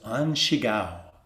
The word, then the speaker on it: An Shigao: we have a record of his name was anshigao an shigao it's spelled like a a-n-s-h-i-g-a-o and chigao or in